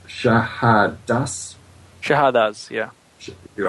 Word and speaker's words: Shahadas: It may be better if I spell it. S H A H A D A S. Shahadas.